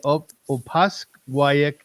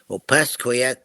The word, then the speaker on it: Opaskwayak: Ken Young is a citizen of the Opaskwayak Cree Nation. Did I say it correctly? Opaskwayak Cree Nation. Cree Nation, yes.